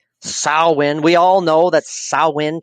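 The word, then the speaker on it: Samhain: we're talking about Sinn we're not talking about Sam Hayne even though it's spelled like that sawin we all know that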